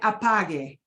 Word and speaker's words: apague: If you're speaking, you said it right, apague.